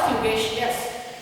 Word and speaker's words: fugacious: Pronounce properly. It is caducous or fugacious.